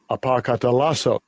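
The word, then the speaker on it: ἀποκαταλλάσσω: I'll let Esau pronounce it here. Strong's G604, apokatallasso.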